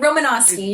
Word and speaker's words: Romanoski: Romanoski. Did I say it right? Almost, yeah. It- Romanoski, you're good.